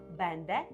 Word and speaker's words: będę: Якщо ти починаєш вивчати польську мову, то ти плутаєш слова бенде і бендже.